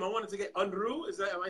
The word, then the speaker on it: Unrue: your last name, I wanted to get Unrue. Am I saying it right? It's Unrue. It is Unrue.